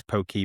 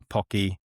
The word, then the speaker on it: Poké: Yeah, Poké, everyone pronounces it differently. And I've been in Hawaii, even in different parts, I've heard it differently. And it's one of those terms where it's Pokey, Poké, Pocky.